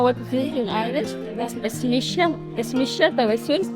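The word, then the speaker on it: Is mise: Ismisha, Tawassul. It's like in Arabic we say Ismi, Tawassul. In Yemen we say Ismish. Ismish? Oh. Ismish. In Irish it's Smisha, right?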